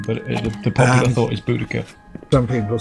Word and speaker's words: Boudica: Boudica. Boudica. Yes. She's awesome. Bless you. Boudica? Boudica. Okay. Boudica. Well, it depends on your school of learning, but the popular thought is Boudica.